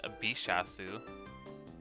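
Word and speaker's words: ビシャス: Ooh, but the Japanese pronunciation of it is Bishasu.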